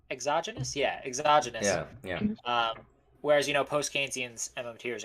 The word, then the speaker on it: exogenous: But in some places, at least, he assumes money is is the correct pronunciation exogenous? Yeah, exogenous.